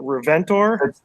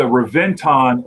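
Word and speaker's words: Reventón: yeah absolutely um actually i wanted you to pronounce the uh the the name of the lamborghini was it reventor it's the reventon lamborghini and i actually have it written down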